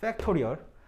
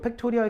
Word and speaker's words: 팩토리얼: 팩토리얼. 그러니까 뭐 있어 보이게 발음한다면 팩토리얼이지, 팩토리얼은 아니죠. P가 아니라 F니까.